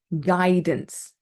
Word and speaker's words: guidance: We also have a silent U before G and before a vowel. So, for example, guess. We don't say guess. Guidance, guitar, guest. Okay, they're all silent U's.